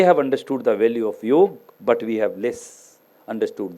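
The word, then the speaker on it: योग: understood the value of yog but we have less understood this so in my opinion yoke should be I do not pronounce it is Yoga it is the real word yog the yog is should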